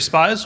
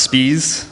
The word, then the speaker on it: Spies: It is now my pleasure to introduce Spies, who will be talking about Open Science Framework. Hi, my name is actually pronounced Spies. It's okay though, everybody says that.